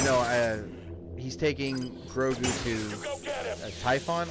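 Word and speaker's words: Tython: For long term, you know, he's taking Grogu to Typhon. I think is how you say that. Typhon is how you say the planet name.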